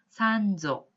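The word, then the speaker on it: 三女: 삼녀 혹은 셋째 딸이라고 할 때 한자로는 삼녀라고 쓰고 산조 이렇게 발음을 하시면 되겠습니다.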